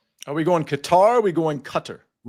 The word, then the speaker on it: Qatar: Are we going Qatar? Are we going Qatar? Right. I keep changing the pronunciation. Like I said, the locals call it gutter.